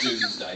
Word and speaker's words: Domesday: Okay, pronounced Doomsday, but spelled Domesday.